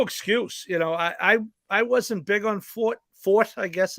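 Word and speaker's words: Forte: Horse shipping for the first time, weather, et cetera, et cetera. But, no excuse. I wasn't big on Fort, I guess it's pronounced.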